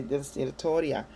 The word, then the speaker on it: Distillatoria: And in Spanish, you will say Distillatoria. Amen? And the Y is pronounced as, the two L's are pronounced like a Y.